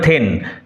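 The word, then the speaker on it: thane: প্রথম ডাইনি তাকে কিভাবে সম্ভাষণ করল দেন অফ গ্লেমস দেন অফ গ্লেমস বলে গ্লেমিসের গ্লেমিসের থেন বলে সরি উচ্চারণ হবে থেন গ্লেমিসের থেন বলে সম্ভাষণ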